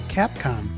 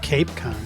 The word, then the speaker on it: Capcom: NASA only used the term Capcom, short for capsule communicator, not Cape Con. A lot of people mispronounce it, but it sounds just the way it's spelled.